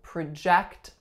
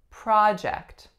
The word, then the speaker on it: project: your viewpoints onto her as a noun we would say project project I am working on a project with my group so strong a syllable the first makes a sound ah second syllable makes a sound ah next up we have